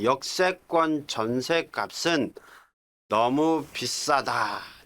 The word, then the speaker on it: 역세권: 우리 발음은 역세권이라고 하지만은 표기는 세는 어이세자입니다.